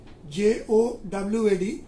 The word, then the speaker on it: Jawad: formed into cyclonic storm, name given as Jawad, pronunciation Jowad, and name is Jawad, and by tomorrow it is expected to reach North CAP and Odisha coast area.